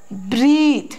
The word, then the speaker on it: breathe: You might have got confused between breath, breath, and breathe, breathe.